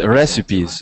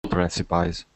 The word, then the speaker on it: recipes: going a pizza um so yes that e that e sound uh exactly recipes recipes no not recipies that's you got it you